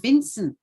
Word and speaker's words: Vincent: says um june says most jamaican actually says vincent the t is not pronounced we must take control